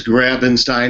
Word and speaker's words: Grabenstein: how do you pronounce it's grabing Stein like Frankenstein or grabbing a Stein of beer if I had been smart I would have gone to teaching authors.